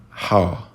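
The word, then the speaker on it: ح: The first letter, I will just tell you the pronunciation. Ha, ha, ha. You see, it's a difficult sound and it's not present in the English language. Ha.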